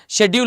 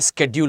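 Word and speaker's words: schedule: बोलते कमेंट बोलना चाहिए शेड्यूल होता है तो नहीं शेड्यूल नहीं होता है स्केड्यूल होता है फाइन ठीक है आप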